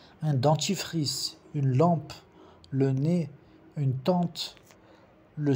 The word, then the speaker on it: nez: Un dentifrice, une lampe, le nez, une tente, le serpent, un enfant, les enfants. O nez, que é a nariz, o Z não se pronuncia, le Z ne se prononce pas.